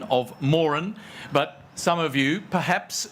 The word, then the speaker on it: Moran: However, the family name is pronounced Morin. So part of my role is, very gently, to remind you all that this is the Morin Prize, not the Moran Prize.